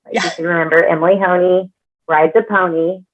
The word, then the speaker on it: Honea: My name's Emily Honea is the last name. It does not look like that, which is why I say it rhymes with pony. You can remember Emily Honea rides a pony.